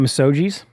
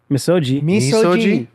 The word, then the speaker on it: misogi: You guys want to talk about massogis? Yes. Is that how you pronounce it? I don't know. Bryce. Bryce. Misogi. You wouldn't pronounce it with a hard G.